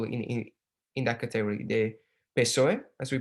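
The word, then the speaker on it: PSOE: parties that fall in in that category the pesoe as we pronounce it which is the the spanish socialist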